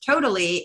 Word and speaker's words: tota11y: And then another browser extension I like is Totally, and that's spelled TOTA11Y. So instead of having L's, it's ones, because the abbreviation for accessibility is A11Y.